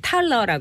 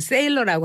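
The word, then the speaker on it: Thaler: 우리나라에서는 그때 넛지라는 책을 이제 탈러라고, 그러니까 발음을 이제 우리는 탈러라고 알고 있는데 미국에서는 그걸 세일러라고 한대요. 어제 CNN을 확인해봤더니 세일러라고 했더라고요.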